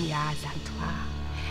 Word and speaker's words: Yaa Asantewaa: I'm gonna say it right. You've got to say it with the rhythm. I am Yaa Asantewaa.